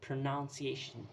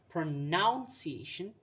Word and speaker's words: pronunciation: Now, the fifth and the last mispronounced word that I found is the word pronunciation itself. It's not pronunciation, it's pronunciation. That's how you pronounce the word.